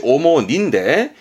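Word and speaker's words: 主に: 그런데 니가 오더라도 발음은 똑같이 오모니인데 이때의 주자는 주로가 돼.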